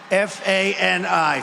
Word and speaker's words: Fani: He worked with Fani, even though it's spelled Fanny, F-A-N-I, Fani.